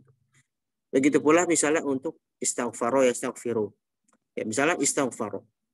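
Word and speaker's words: اِسْتَغْفَرَ: Jadi bacanya istighfaro ya istighfir, bukan setaghfaro setaghfiru. Gak bisa kan kita mengucapkan sin yang bersukun setaghfaro setaghfiru, nggak bisa, susah.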